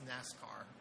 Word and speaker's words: NIPRNet/SIPRNET: As he said, I'm going to be talking about the NIPRNet, SIPRNET Cybersecurity Architecture Review today, which we pronounce Nascar. It's just a way to pronounce it.